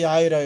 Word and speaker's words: 야훼: 이제 이름은 여호와라고 하기도 하고 야훼라고 해요. 원 발음은 야훼가 가깝고 이것이 중국으로 가서 음역되는 과정에서 우리가 받다 보니까 여호와라는 이름으로 약간 좀 변형이 됐는데, 여호와나 야훼는 똑같은 말이고요.